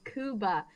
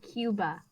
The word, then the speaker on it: Cuba: do you pronounce kuba the correct the correct pronunciation is kuba English speaking people call it Cuba has lots where English speaking people yes well